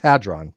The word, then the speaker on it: hadron: state of the nucleus adren it's a it's pronounced had drawn oh it is it is I know it's